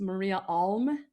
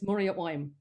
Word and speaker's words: Maria Alm: south of here, in it looks like it's pronounced Maria Alm, but in dialect it's Maria Oim.